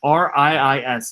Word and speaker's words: Riis: The person that took those photos is a guy by the name of Jacob Riis, R-I-I-S. It's a little bit of a weird spelling for Reese, but that is how you spell it.